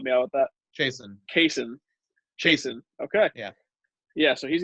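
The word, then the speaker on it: Chaisson: Was it Chason? I don't know how to say his name. Chason. Ryan, can you help me out with that? Jason. Chason.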